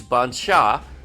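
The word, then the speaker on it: Bancha: In Portuguese, the CH is pronounced as SH. So yes, I pronounced that properly. So this is Bansha, which appears obvious to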